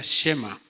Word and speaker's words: Shema: Esta palabra, oye Israel, en hebreo se pronuncia Shema. ¿De acuerdo? Y Shema es una palabra que se repite en muchos lugares de la Biblia.